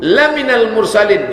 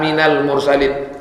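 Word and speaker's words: لَمِنَ الْمُرْسَلِينَ: Lam itu kalau pendek artinya sungguh. Laminal mursalin. Sungguh engkau seorang rasul. Tapi kalau mac bacanya salah dibacanya panjang. Innaka minal mursalin. Kau bukan seorang rasul.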